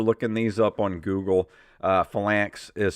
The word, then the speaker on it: Phalanx: It's Phalanx. Phalanx is how it's pronounced.